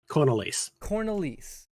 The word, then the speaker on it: Cornelise: Much more straightforward than it looks. I was like, it looks a bit off, but like when you say it, I'm like, yeah, that's definitely what that is. Well, that's because I'm not doing the Dutch pronunciation.